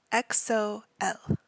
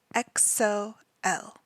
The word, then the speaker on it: EXO-L: The group is EXO, EXO, and their fandom is called EXO-L, EXO-L.